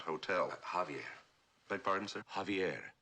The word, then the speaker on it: Javier: Javier beg pardon sir Javier not Javier The The J is silent you pronounce it like a ha ha Javier I can't say